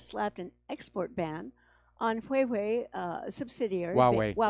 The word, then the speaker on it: Huawei: after the US slapped an export ban on hway uh subsidiary WWE it's pronounced wuwei uh subsidiary in Silicon Valley you know it's